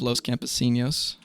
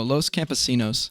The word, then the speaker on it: Los Campesinos: I went through a period where whenever I saw anything that was Spanish and had an N in it I would just pronounce it like an N yay. I found out later that that's not how you're supposed to do that.